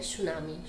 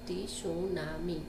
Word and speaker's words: tsunami: टी सुनामी इस तरह से होता है, बट हम टी सुनामी नहीं, उसे सुनामी बोलते हैं क्योंकि टी यहाँ पे साइलेंट होता है।